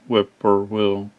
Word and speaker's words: whippoorwill: on it and then the Whipper Wheels always had three survive always I've always thought Whip or will when you hear them